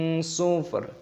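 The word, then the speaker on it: صفر: Jangan dibaca sufrun tapi sufr.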